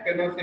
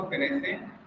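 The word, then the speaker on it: Pinochet: general Augusto, ठीक है ना, जनरल ऑगस्टो पिनोकेट, ठीक है ना, पिनो से भी बोलते हैं इसको, जनरल ऑगस्टो पिनोसे, प्रोनाउंसिएशन इधर करना पिनोसे, एंड आर्मी जनरल, ठीक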